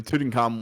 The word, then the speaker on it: Tutankhamun: It's Tutankhamun.